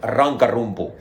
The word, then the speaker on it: Rankarumpu: Can you pronounce it for me? It's called Rankarumpu.